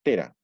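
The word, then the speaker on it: Thera: Si alguno de ustedes conoce Santorini, la zona central, bueno, actualmente se pronuncia Fira, es Tera.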